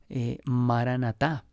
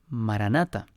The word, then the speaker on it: maranatá: sí ven, Señor Jesús, es la palabra aramea maranatá, maranata o maranatá, que hace referencia, sea cual sea su pronunciación, el significado de esta palabra, pues ya